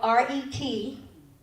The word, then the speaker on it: Retsama: It's spelled R-E-T-S-A-M-A. And I pronounce it Retsama.